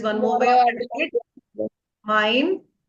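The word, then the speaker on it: mein: Mine. How will you pronounce this? We have ei. Ei is I. Mine. Mine. M E I N. Mine.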